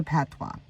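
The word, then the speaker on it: Patois: track instruments or rhythms what is a Patwa it's spelled p a t o i s it's a non-standard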